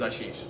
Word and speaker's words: Ashish: India my grandma named me my name is Ashish okay Ashish yes easy name common in India but no one can pronounce it in us and they always thought